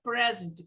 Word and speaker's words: present: a gift for you a regra present for you então cai na primeira sílaba o som o estresse presente e eu quero apresentar esse presente I want to Present I want to Present